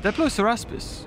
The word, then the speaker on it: Diploceraspis: Diploceraspis.